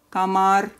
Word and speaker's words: комар: remember very quickly, and they are all ending on consonant R, and all of them have final syllable stress.